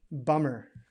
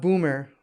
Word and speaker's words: bummer: say it a lot bummer bummer does anybody know what bummer means it's not boomer like in russian that's i think that's bmw this is bummer uh-uh and bummer simply